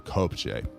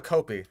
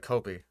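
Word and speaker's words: kopje: Also, it's called a copi. It kicks backward as you launch. You don't pronounce the J. It's just like Kopi.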